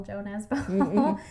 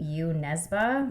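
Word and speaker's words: Jo Nesbø: um that I think people over here call Joe Nesba but according to the pronunciation that we looked at it's actually you Nesba.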